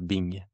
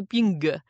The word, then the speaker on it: 病: sera ce caractère qui se prononce ping h quon ouais ping B ouais ping donc si vous êtes fan de Friends penchz à chler Bing ouais mais attention on dit pas trop ping ou le bingo mais